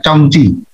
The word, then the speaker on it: Zong Qi: Nah, ini Zong Qi bacanya Chong Qi.